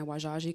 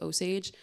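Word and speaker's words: Wazhazhe: focusing mainly in my Wajaji community. Everyone knows Wajaji is Osage. That comes from, French people writing it down and just pronouncing it that way from then on.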